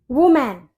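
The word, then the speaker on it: woman: अब next word है हमारा वुमेन। अक्सर लोग इसको वुमेन बोलते हैं। वुमेन। यह वुमेन नहीं होता। इसे हम बोलते हैं वुमन।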